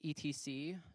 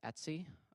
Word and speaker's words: etc: Um, the etc directory, pronounced Etsy, um, or ETC. Confused me the first time I heard it.